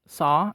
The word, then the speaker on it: sauce: word the correct pronunciation for sauce is saw as in i saw what happened followed by sound sauce chocolate broccoli salmon